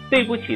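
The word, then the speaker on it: 对不起: 首先我们来看一看，对不起，对不起的不应该是读轻声，然后不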